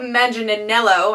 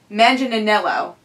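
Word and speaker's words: Manganiello: to go with Joe magelo I don't think I pronounced the last last name right manginello yeah uh so he's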